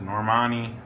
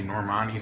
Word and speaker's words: Normani: harmony and said um I used to call this girl Norma Nia I don't know that's how you say it but Nicki says normanni I mean I've seen a few people say normani so I guess that's